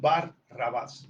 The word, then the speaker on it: Barrabás: ya por lo menos lo saben, que es Bar Rabás. Ya es como más fácil pronunciarlo corrido.